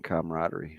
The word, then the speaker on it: camaraderie: I want to go back to something you asked me about chemistry and camaraderie. Shane, first of all, good on you for pronouncing that word correctly.